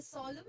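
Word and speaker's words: solemn: और थर्ड है हमारा सोलम, एन साइलेंट होता है इसमें, ऑलराइट, इसको हम बोलते हैं सोलम।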